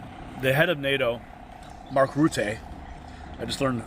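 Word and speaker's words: Rutte: And then you have the head of NATO, Mark Route, I just learned how to pronounce his name correctly, saying there's an irreversible path to bring Ukraine into NATO.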